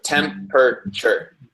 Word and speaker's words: temperature: T Katarina T um temperature temperature and actually normally we would say this in three syllables in English. So temp per shirt.